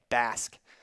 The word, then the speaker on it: Basque: pretty serious about that as you say it Basque as in you know bass and that's how like a long a or short a not a I mean I don't know their Mr English teacher I just know that it sounds like the word bass Mr English teacher you're